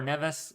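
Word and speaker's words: Nevis: kitas these islands here or nevas that's how you say it we're looking at a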